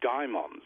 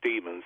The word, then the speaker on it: daimon: the old religion were duped by daimons, or demons, as most people pronounce it today, were duped by demons